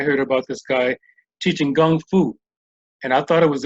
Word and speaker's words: gongfu: about this guy teaching gongfu and I thought it was interesting because he actually pronounced it is build it with the G right so I came